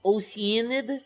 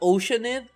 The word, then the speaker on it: Oceanid: time you tell me it's pronounced as oceanid not oceanib oceanid like like it's a huh